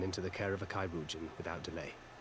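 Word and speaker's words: chirurgeon: But it's imperative we get him inside and into the care of a Kairoujan without delay. Kairoujan, that's how you pronounce that word.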